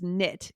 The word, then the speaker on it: knit: So tight is TIGHT, and then we have a dash in there, and it's knit, KNIT. There's a K in there, just like in the word no, to know, Right.